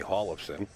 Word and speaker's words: Hjorleifson: Eric Haas and Collison I'm trying to say it properly he told me Hall of sim himself but he defeats Mike